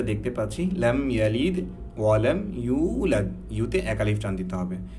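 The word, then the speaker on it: يولد: তো ব্যাপারটা হচ্ছে লাম ইয়ালিদ ওয়ালাম ইউলাদ, হ্যাঁ লাদ ওয়ালাম ইউলাদ না, অনেকে আমরা পড়ি লাম ইয়ালিদ ওয়ালাম ইউলাদ, ব্যাপারটা এমন না।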